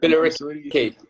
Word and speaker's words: Billericay: Okay, so we were talking about you being successful with the I don't know how to pronounce the females team. Like, Billericay.